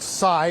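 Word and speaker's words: Sai: He is identified as, we believe his name is pronounced Cy, S-A-I is the first name, Cy Varshith Kandula, 19 years old, from Chesterfield, Missouri.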